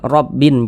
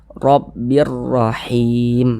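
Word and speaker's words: رَبٍّ رَّحِيمٍ: Ah, tanwin disisipkan ke dalam huruf ro. Rabi. Rabi. Jangan dibaca sebagai rabbin. Jangan sebut rabi. Namun, masukkan ke dalam huruf ro. Rabbir rahim.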